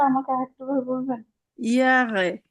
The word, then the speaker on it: Jahre: ইয়ারে, ইয়ারে, অথবা ইংরেজির মতো ইয়ারে পড়ে ফেলতে পারেন।